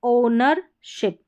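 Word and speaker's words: ownership: यह है ओनरशिप। ओनरशिप। यहां पर ओ के बाद डब्ल्यू साइलेंट है।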